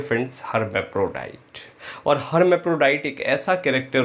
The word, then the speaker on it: hermaphrodite: हर्मैफ्रोडाइट, HERMAPHRODITE, हर्मैफ्रोडाइट।